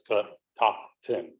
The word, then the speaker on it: Catoctin: Native American word so it feels like it's calling the back of your throat you're actually saying it right so it's cut top ten um a young visitor